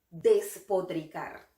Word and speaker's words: despotricar: Próxima palabra, despotricar. Esta palabra tiene el grupo consonántico TR, que es difícil de pronunciar.